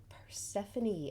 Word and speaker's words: Persephone: covid so forgive me but i was correct persephone and isn't that a lovely image with the